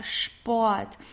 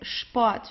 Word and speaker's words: Sport: So, for example, here we have the word der Sport. So all words that start with an SP are pronounced as sp. Okay, it's Sport. So we don't say sport, we say Sport.